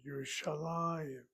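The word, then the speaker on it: ירושלים: It's therefore irregular, and that's why the accent is over that lamed. Yerushalayim.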